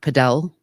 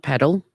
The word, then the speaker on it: padel: But yes, apparently it is pronounced Padel, not paddle.